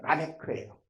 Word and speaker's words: 라멕: 원어 발음을 하면 라메크예요.